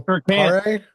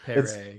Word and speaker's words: Paré: And I think he's got a little accent on his E, so like I do. That's why I pronounced it like that. Yeah, I think it's like Paré.